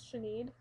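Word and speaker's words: Sinéad: a name necklace and it says Chen It's s i n e a d and that's how you pronounce it correctly um my friend got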